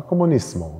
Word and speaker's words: comunismo: Allerdings gibt es im Spanischen auch die Aussprache Comunismo mit nicht stimmhaften S. Ich glaube, die mit stimmhaften S ist häufiger, aber es gibt auch die andere.